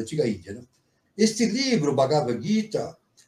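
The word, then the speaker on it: Bhagavad Gītā: Então isso significa que o I e o A devem ser pronunciado de maneira alongada, extensa, né? Então é bagavra, tá? Essa essa pronúncia é correta de acordo com o Sân. Bagavra GUI, tá?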